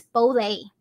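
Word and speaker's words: 普洱: i've visited poor and just kind of like the numbers one two three in chinese so that sound is poor that you would pronounce but in cantonese which i'm actually from hong kong so i speak cantonese it's bole totally different sound so bolecha is the same as puerti or puerta so that's kind of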